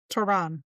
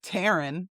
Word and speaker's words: Tehran: Tehran. Tehran. Yeah, not Taran. It's not the girl down the street's name.